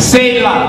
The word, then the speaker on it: Selah: Selah. That's how you pronounce it.